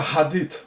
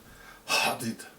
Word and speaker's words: hadith: There is a hadith or interdiction number 5173 till 5178 in the